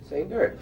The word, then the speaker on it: Sainert: Now, why do you say the accent is on the last syllable? He likes it that way. Say nerd. It's like say nurse, only say nerd.